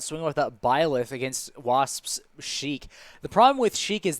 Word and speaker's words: Sheik: other problem is that sheik's name is sheikh and not sheikh many people make that mispronunciation they try to pronounce it as sheikh but she is in fact sheik from legend of zelda and not an islamic holy man all right are